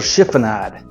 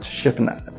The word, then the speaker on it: chiffonade: And then what we're gonna do is we're gonna do a little chiffonade. That's Italian. I looked it up, and it's pronounced chiffonade.